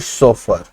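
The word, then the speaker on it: chauffeur: चाहिए, driven by लिवरिड सोफर। इसके pronunciation पर ध्यान दीजिएगा, इसे सोफर कहते हैं।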